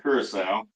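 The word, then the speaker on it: Curaçao: Curacao, that's how you say it.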